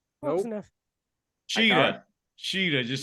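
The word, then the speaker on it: Shida: Sheeta.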